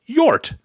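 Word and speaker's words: Hjort: Also, Marty, it's pronounced Yort. It means dear. Oh, we pronouncing your name wrong for years. Thank you, Yort.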